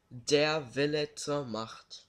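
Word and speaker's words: Der Wille zur Macht: will teach the world something how do you pronounce this game and it's Xenosaga episode 1 dare vi'lets ahmad ok guys just rewind it and listen to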